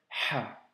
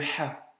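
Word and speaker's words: ح: Pour la prononciation de cette lettre, tu peux t'appuyer sur certains mots comme le mot halal ou bien alhamdulillah. Tu vois, c'est le Ha. À ne surtout pas confondre avec le Kha ou le Ha.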